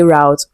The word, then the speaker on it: root: we have roots okay so I've heard so many Nigerians say route and it's not that it is wrong okay it's just the American way of pronouncing it okay Nigerians were colonized by the British and so we speak the British English so it is rude and you might be wondering is it the same pronunciation with ro o t